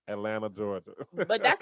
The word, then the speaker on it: Atlanta: the way I say Atlanta. Like we don't nobody from Atlanta pronounces the T. Only people from outside of Georgia say Atlanta. Everybody else down here says Atlanta, Georgia.